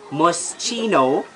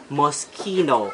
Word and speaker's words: Moschino: is Versace next is must Chino but it's an Italian brand which should be pronounced Moschino cusamano Italian and SCH